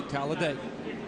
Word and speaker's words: Talladega: It's a four-syllable word that means speed. You simply say Talladega.